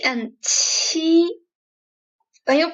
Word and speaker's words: Qi: Qi does not blow that much air, but Qi blows a lot of air. Like, Qi, Qi.